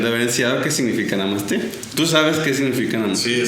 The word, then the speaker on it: Namaste: Namaste, N-A-M-A-S-T, con acento en la... es como mamaste, pero en francés.